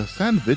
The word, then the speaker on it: Sandvich: and most interestingly the sandit from Team Fortress 2 and no I did not mispronounce it that's what it's actually called it's Canon debate over